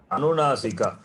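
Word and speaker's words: अनुनासिक: Anunasika, not Nasika.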